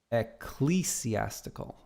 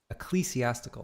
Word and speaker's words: ecclesiastical: Yurt says, almost the second syllable is pronounced cleese.